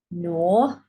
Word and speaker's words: gnaw: So note again, these letters, silent G is silent when it's next to an N.